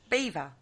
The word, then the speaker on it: Belvoir: Windsor Castle substitute is Belvoir Castle. Belvoir? How do you pronounce that, Kerry? Beaver. Is it? It's actually said Beaver Castle, but it is spelled Belvoir Castle.